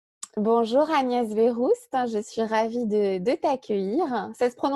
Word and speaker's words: Verroust: Bonjour Agnès Véroust, je suis ravie de t'accueillir. Ça se prononce bien comme ça, ton nom de famille?